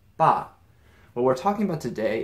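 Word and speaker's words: 爸: what this character is yes this is dad all right pronounced ba what we're talking about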